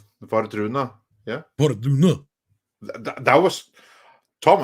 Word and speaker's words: Wardruna: Well, if they're Norwegian, then that means you got to say it like, Wardruna. Vardruna, yeah.